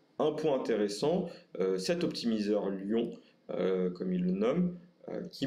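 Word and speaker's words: Lion: Alors il s'agit d'un optimizer du nom de Lyon, je le prononce en français, qui est issu d'une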